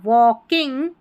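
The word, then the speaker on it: walking: L silent है और के आई एन जी किंग बन गया। वॉकिंग होम क्या पढ़ेंगे?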